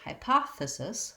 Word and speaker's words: hypothesis: the word hypothesis hypothesis that syllable is unstressed and the letter e says the sound schwa which sounds like uh so we have hypotha hypothe and lastly the sis syllable just says cis same as the abbreviation for the word sister it's a lax vowel and we're going to be short and light on it so let's